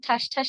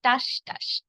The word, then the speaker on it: ঠাসঠাস: সমস্যা যেখানে হয় ঠাসঠাস বলতে গিয়ে অনেকের মহাপ্রাণধ্বনিতে সমস্যা থাকে এবং ঠাসঠাস না বলেন টাসঠাস এটি কিন্তু টাসঠাস নয় এর সঠিক উচ্চারণ হবে ঠাসঠাস আবার দ্রুদ্রাম্রাম হবে না